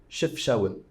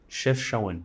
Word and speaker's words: Chefchaouen: How do you say Chefchaouen. Chefchaouen.